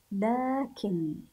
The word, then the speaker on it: لكن: الاتيه ذلك اين الحرف مبروك اين الحرف الذي نطقته وهو غير موجود غير موجود في الكلمه لكن لكن الف بعد اللام الرحمن الرحمن الف بعد